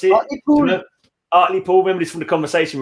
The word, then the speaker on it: Hartlepool: Hartlepool. Remember this from the conversation we was having on Friday night? Yeah, from Hartlepool, yeah. If you're from Hartlepool, you don't say the H and you don't say the T either.